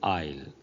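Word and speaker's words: aisle: first word is isle the s here is silent we say i'll this is an isle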